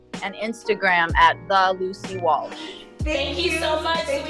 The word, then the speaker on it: Walsh: you said wash. No, I said Walsh. No, you said wash. I'm telling you, you swallowed the L. Walsh.